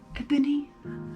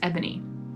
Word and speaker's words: Ebony: Because it's E-B-O-N-Y. Okay. Yeah. It does sound like Boney, or spelled kind of like that, but...